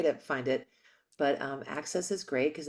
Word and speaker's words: AXS: um what's the network access is that how you pronounce it AXS Access TV AXS TV and um it's like good